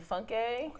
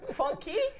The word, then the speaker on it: Funke: Today we're going to talk about JJC and Funke. What? Funke. What? Funky?